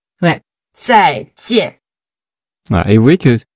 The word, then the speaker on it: 再见: Vous allez essayer de prononcer le Z-A-I, zai, J-I-A-N, tien. Vous aurez du mal, mais en fait, parce que c'est pas basé sur la prononciation francophone. Et comme ce que Florent vient de dire, en fait, pour les francophones, ce qu'on entend, en fait, c'est d'autres sons.